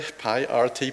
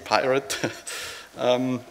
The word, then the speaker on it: pyRT: Yes, I'm talking about pyRT, pronounced correctly, pyRT, pyRT.